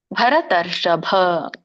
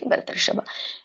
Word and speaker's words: ಭರತರ್ಷಭ: ತುಂಬಾನೇ ಇಲ್ಲಿ ಅನುಸ್ವಾರಗಳಿದೆ ವಕ್ಷಾಮಿ ಭರತರ್ಷಭ ನೋಡಿ ಭ ಕೆ ದೊಡ್ಡಭ ಇದೆ ಸೋ ಗಮನಿಸಿ ಭರತರ್ಷಭ ಇದರೊಂದು ಅರ್ಥವನ್ನ ತಿಳ್ಕೊಂಡುಬಿಡೋಣ ಬರೋಣ